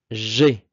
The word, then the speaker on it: j'ai: Donc, pour la première personne, moi, j'ai. Ici, très important, alors c'est une erreur qui est fréquente, là. Le AI se prononce et. J'ai.